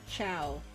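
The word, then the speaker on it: Chaud: Chao? I don't know. It's supposed to be pronounced with a silent D. Although in-game dialogue suggests it's pronounced closer to Chow.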